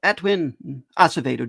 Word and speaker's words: Edwin Acevedo: Edwin Asavdo? Did I pronounce the name correctly by the way? Yep, you got it. All right. Yeah. So, uh I'm Edwin Asavdo.